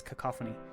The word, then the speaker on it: cacophony: blue an endless cacophony cacophony I've been corrected is apparently the correct way to pronounce that word I've never said it bailout before but apparently it's cacophony of meaningless noise the